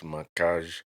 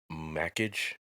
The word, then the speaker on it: Mackage: Um like Macage, some people pronounce Macage Mage. I think Macage. It's French. So, Macage, but some people say Macage Mackage. Either either way is is right.